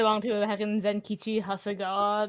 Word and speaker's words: Hasegawa: The heckin' Zenkichi Hasegawa. They said they say Hasegawa correctly, which is the real question mark there.